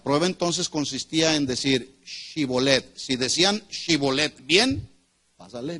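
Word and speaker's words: shibboleth: La prueba consistía en pronunciar correctamente una palabra, shibolet, así como shalom, shibolet. ¿Cómo es? Shibolet, que significa arroyo que fluye. Si ellos, los de Efraín, decían Sibolet, sin la H intermedia, ellos podían decir, no,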